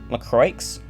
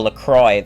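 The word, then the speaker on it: LaCroix: Lrokes. Is that real? Is that like raid branded? Oh, Lacroy. That's how you say that. It's like Grand Prix.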